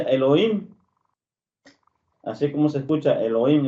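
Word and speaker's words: אלוהים: que Esta palabra Dios en hebreo se se pronuncia Elohim, así como se escucha.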